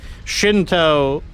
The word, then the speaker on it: Shinto: Shinto is basically the Japanese pronunciation of Shen Dao.